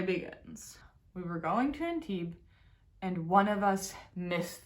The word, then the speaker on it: Antibes: When we got to Antibes, it's not, you don't pronounce the S because it's French. When we got to Antibes, we started by, it